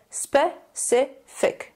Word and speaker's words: specific: The C makes an S sound. Now, I know a lot of English language learners may mispronounce the I sound. It is not E, it's not spécifique. It's a short I sound, so we say specific.